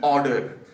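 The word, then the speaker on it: odour: हम यूज करते हैं ऑर्डर। इसको हम बिल्कुल वैसे ही प्रोनाउंस करते हैं जैसे हम करते हैं ORDER को, ऑर्डर को।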